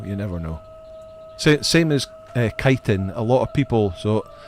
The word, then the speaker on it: chitin: a lot of people would refer it as chitin because it's written CH. But I did look into it, and it is pronounced chitin.